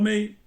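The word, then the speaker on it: 酶: Y menos utilizado, porque ya es un término un poquitín técnico, pero conocido por todos los chinos, por supuesto, también pronunciado mei, es el carácter para enzima o para fermento o para fermentar.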